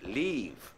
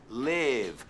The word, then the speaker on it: live: Y cuidado con la pronunciación, no es leave. Leave es marcharse. Yeah, leave es marcharse. Es live. Live.